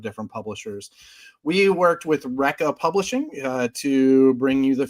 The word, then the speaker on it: Recca: It is called Recca Comics, and it is pronounced just that way.